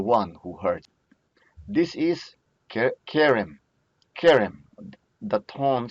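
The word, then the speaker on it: כֶּרֶם: This is Kerem, Kerem. The tone syllable is the K.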